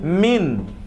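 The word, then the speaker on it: مِنَ: তবে একটা খেয়াল আমরা রাখছি, মিন যখন আসবে কোনো নাউনের পূর্বে, এই নাউনের পরে যদি আলিফ লাম থাকে, এই যে নাউনের পরে কি থাকে, যদি হামজাতুল ওয়াসল শব্দের শুরুতে আসলে সেখানে মিনটা মিনা হয়ে যাবে।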